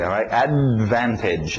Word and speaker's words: advantage: em inglês é assim engole esse D não falo D Advantage Advantage pronúncia rápida tira o t Advantage post bate